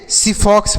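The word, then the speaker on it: xiphos: इसे हम क्या पढ़ेंगे सीफॉक्स पढ़ेंगे एकस से यहां बच्चों स पढ़ेंगे क्या पढ़ेंगे स तो हम पढ़ेंगे सीफॉक्स देखिएगा इसे हम सीफॉक्स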